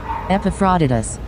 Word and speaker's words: Epaphroditus: Epaphroditus. All right, that's how you pronounce it.